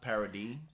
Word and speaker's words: Paradis: have a city that's spelled paradise but it's pronounced parody who washed these dishes they did a terrible